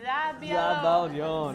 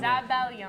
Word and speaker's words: zabaglione: Does anyone want to pronounce it together? Zabaglione. Zabaglione.